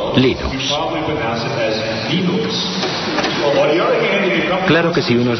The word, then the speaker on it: Linux: Bueno, yo Linux lo pronuncio Linux. Sin embargo, si fuese Linus Torvalds, no hay duda de que lo pronunciaría Linux.